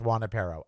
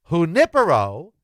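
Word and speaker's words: Junípero: Juan apero would be J U A N Y P E R R O, and it would mean Juan and his dog. Junipero, J U N I P E R O, is the name of Junipero Serra, who established all of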